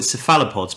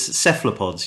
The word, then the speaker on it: cephalopods: I know there that I've been mispronouncing it for four years I was caught in cephalopods but it's cephalopods you do you you describe which is very correct because the kalos is from the Greek but the words pretty